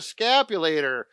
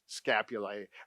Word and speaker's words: scapulae: And then we got the levator scapulator. I pronounced that wrong. Scapulae, actually.